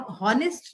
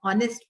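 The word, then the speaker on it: honest: silent होता है ऑनेस्ट हम नेस्ट नहीं बोलते हम ऑनेस्ट बोलते हैं तो H silent talk L silent kitchen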